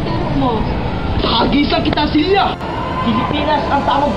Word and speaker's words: Pilipinas: Pilipinas tulad ng Turo mo tagisan kita silya Pilipinas ang tamang bigkas pelly fy pelly hahagisan talaka kita na